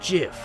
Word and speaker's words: GIF: times it's pronounced jiff huh dot jiff like the peanut butter the creator said so